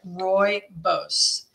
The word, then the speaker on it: rooibos: love rainbows and that's how you say it Roy Bose yeah Roy Bose is it me or you